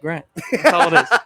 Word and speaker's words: gr4nt: how to pronounce that i just tell people it's just grant specifically the four was